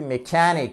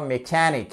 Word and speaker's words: mechanic: piège un mécanicien etchanic accentuation sur la vous avez entendu mechanic faitesle bien comme moi mechanic sur la deuxème syllable et y a un